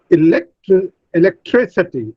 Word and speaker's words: electricity: Electricity. Electricity. Now, tree receives the primary stress. Lek receives the secondary stress.